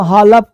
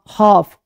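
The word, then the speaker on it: half: अब देखिए है ना ये है पालम कालम हालप कालफ नहीं ये सब क्या है ये सब में एल चुप पाम काम हाफ काफ है ना अब बोलते हैं डब्ल्यू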